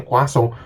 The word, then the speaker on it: croissant: Croissant itu kalau di Prancis itu dibacanya Kwaso.